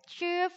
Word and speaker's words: 吃: 우리들 几点吃饭 이라고 했습니다. 几点吃饭 자, 뒤에는 시, 파는 밥. 자, ch 뒤에 있는 아이요. 얘는 이 발음이 아니고 으 발음이었습니다.